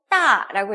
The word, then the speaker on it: 大: 따라고 읽어요.